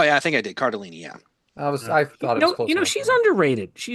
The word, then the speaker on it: Cardellini: I think you might have said it wrong. Oh yeah, I think I did. Cardellini.